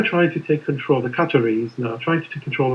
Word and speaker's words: Qatar: Qatar is how they pronounce it properly. But the Americans have problem with this Qatar. They say Qatar.